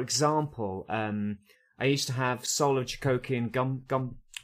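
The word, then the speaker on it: Soul of Chogokin: For example, I used to have Soul of Jigogin Soul of Jigogin. That's how you pronounce it.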